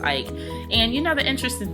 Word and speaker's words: Eich: co-founder of maela Brandon Ike or Brendan I think his name is pronounced Ike and you know the